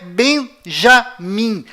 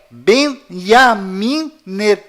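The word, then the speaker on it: בנימין: em Israel é iu além disto não é Benjamim a pronúncia correta é Benjamim pois lembre-se até hoje não existe em hebraico nenhuma letra com som de J confira é benyamin se você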